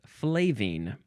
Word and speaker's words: flavine: else next is flake so it's flaven but we added an e at the end so the pronunciation becomes flavine now from Circa 1853